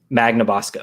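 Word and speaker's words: Magnabosco: name something like that i think it's magna bosco magna bosco okay yeah like magneto nice um he is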